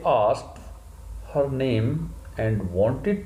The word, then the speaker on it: asked: आपको बतलाया है, ASKED, आस्क का सेकंड फॉर्म आस्क नहीं होता, आस्क्ड होता है। ED साउंड ट साउंड में ट्रांसफॉर्म हो जाती है ब्रिटिश रिसीव्ड प्रोनाउंसिएशन के अकॉर्डिंग।